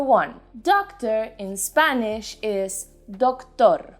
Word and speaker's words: doctor: this case o perfect now put the emphasis in the second syllable tor for example i have a doctor's appointment later tengo una